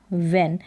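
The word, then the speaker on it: when: है वेन क्या है वेन ये डब्लू का साउंड तो व आ रहा है लेकिन इसमें एच का साउंड नहीं आता साइलेंट रहता है ये है वन वन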